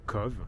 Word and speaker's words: Cobh: est la ville de CVE si je prononce bien même si ça s'écrit avec un B ça se prononce avec un V mais voilà aujourd'hui donc